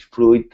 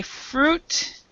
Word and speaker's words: fruit: This word and the other word suit, we say fruit and suit. So the I is silent here.